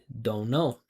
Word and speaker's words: don't know: But when native speakers pronounce this in a natural way, they don't pronounce the T. They just say don't know.